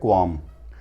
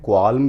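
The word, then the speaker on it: qualm: समझ गए दोस्तों, अगला हमारा वर्ड है क्वाम। दोस्तों, इसको प्रोनाउंस कर सकते हैं क्वाल्म भी और क्वाम भी, ये दोनों ही सही हैं।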